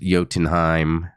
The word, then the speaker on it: Jotunheim: So I think the J is not supposed to be pronounced Jotunheim. J is always pronounced as a Y.